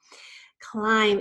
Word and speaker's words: climb: a very fun word climb has a long I sound and we expect there to be a silent e after the M but instead we encounter the letter B which is also silent a long time ago